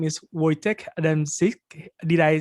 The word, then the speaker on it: Wojciech Adamczyk: His name is Wojciech Adamczyk.